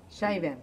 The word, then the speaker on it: Scheiben: The pronounce is a シャイ Scheiben. シャイベン。